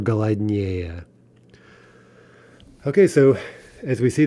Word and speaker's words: голоднее: Now, as with so many things in Russian, there are a few isolated exceptions where an adjective with three or more syllables does get in stressed on this comparative ending. For example, холоднее or голоднее.